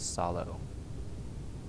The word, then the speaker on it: sallow: Her face was sallow. That's a word I don't know. It's pronounced like sallow, or is it like tallow? Sallow. And like marshmallow.